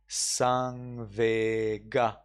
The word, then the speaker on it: saṃvega: Well, because sa becomes ta in Burmese pronunciation.